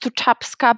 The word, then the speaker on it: Tutabska: Well, my surname is quite difficult. Even in my own country, it's pronounced Tutabska, but I've heard more than 1,000 different versions, so I'm used to it.